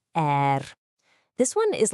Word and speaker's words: 而: The third character is er, pronounced er.